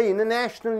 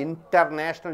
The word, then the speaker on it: international: You don't say international, you call it as international. Right? After NTS comes, T is not at all pronounced. You call it as international news.